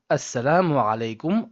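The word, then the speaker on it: السلام عليكم: And it goes Assalam-o-Alaikum Warahmatullahi Wabarakatuhu.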